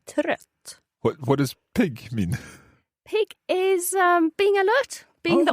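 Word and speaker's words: pigg: Pig is being alert, being the right. opposite of tired. And how do you spell that? P-I-G-G. Right, okay. Is that short vowel sound again? Yeah, pig.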